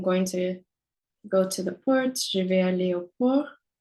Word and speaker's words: port: We could also say, I'm going to go to the port. Je vais aller au port. So that's P-O-R-T, but the T is silent.